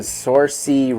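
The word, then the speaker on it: Saoirse: that you look at that combination of allergies and you're like i think you're cheating at scrabble because those don't make that sound oh only i gonna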